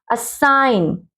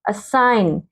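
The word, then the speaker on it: assign: silent होता है ठीक एन से पहले क्या है जी नो इलाहीन जी को हमने साउंड नहीं पंक्ति में करना ठीक है पंक्ति में मतलब पंक्ति को बोलते हैं एलाइनमेंट असाइन जी को हम नहीं पढ़ेंगे सीधा ना असाइन असाइनमेंट सपना गण नहीं बोलेंगे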